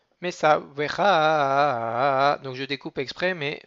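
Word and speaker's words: מצוך: Anochi, Mesavvecha, il est aussi Millera. Mesavvecha, donc je découpe exprès, mais Mesavvecha, c'est tout dans la continuité.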